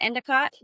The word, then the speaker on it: Endicott: Is it Endicott? Yep.